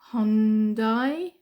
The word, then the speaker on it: Hyundai: good uh sturdy car how would you pronounce this the car it's like a slanted H slanted catch it's like a slanted h um okay um Hyundai Hyundai Hyundai okay Hyundai okay okay um uh in